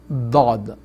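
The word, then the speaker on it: ضاد: Sister, the letter Dad should be pronounced from this part of your jaw. So walad dallin. So this part or this part, both is correct. So Dad, but must be from your jaw. So the corner of your tongue touches your jaw and pronounce it full.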